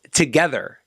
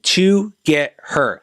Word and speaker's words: TOGETHXR: read update here so it's pronounced together as in to get her that's crazy of jessica